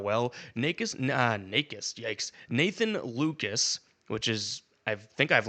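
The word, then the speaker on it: Lukes: Nikk Nis, yikes, Nathan Lucas, which is I think I've learned how to pronounce his name. Not Luke. Lucas.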